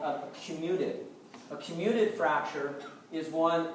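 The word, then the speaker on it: comminuted: fractures the bone kind of just shatters out commuted is how you pronounce that yes sir uh so there's all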